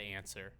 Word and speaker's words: Anser: direct ripoff of the Answer. Which is Ping? Yeah, Ping. And the Okay. Answer is spelled Anser, no W, not like regular English.